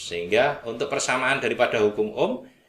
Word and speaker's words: ohm: Ini simbol omega tapi kita bacanya ohm, ya, OHM tulisannya. Ya, ini bacanya ohm.